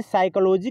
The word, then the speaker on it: psychology: लोगों को लगता है साइकोलॉजी की स्पेलिंग एस से स्टार्ट होती है, लेकिन फ्रेंड्स ये नहीं है।